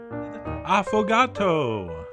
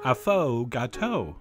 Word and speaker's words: affogato: and as always enjoy afato that's right I believe that's how it's pronounced although if it was up to me I would pronounce it afo which I think sounds a little sportier but anyway what it